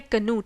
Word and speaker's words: Cnut: स्वेन का बेटा था, इसकी प्रोनाउंसिएशन है कनूट, CNUT, कनूट।